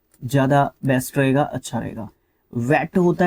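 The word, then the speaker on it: VAT: ये, एक तरीके से वैल्यू एडिड टैक्स, इसको वेट प्रोनाउंस करते हैं, ठीक है, ये ध्यान रखना।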